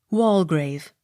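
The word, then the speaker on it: Waldegrave: r a v e wall grave the d e not sounded w e m y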